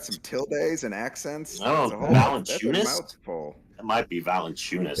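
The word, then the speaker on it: Valančiūnas: Valenciunas. Man, that's got some tildes and accents. Oh, Valanciunas?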